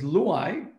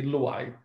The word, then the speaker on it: Luay: Yeah, it is Luay. So this is an Arabic name. The truly correct pronunciation is Luay. Nobody can pronounce it like that, but I say Luay. So Luay is the right way here.